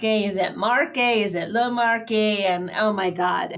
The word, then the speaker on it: Le Marche: Is it le Marche? And oh my God, it was making my head hurt. But I checked with the regent for our purposes. We called it the yeah, Le Marche. Marche.